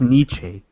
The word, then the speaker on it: Nietzsche: he is our generation modern day Niche category I think it's pronounced Nietzsche who don't follow these